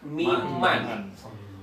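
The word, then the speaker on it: مِمَّا: bila bertemu dengan Man maka dibaca mim Man Min bila bertemu dengan Ma menjadi mimma contoh wa mimma roqnahum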